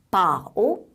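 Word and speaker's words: 饱: 바오 라고 발음을 하고요.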